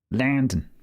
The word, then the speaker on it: London: Originally from London. Landon to use the local pronunciation.